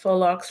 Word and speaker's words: faux: have the faux locks I think I pronouncing it Fox F Au XO locks and then the French curl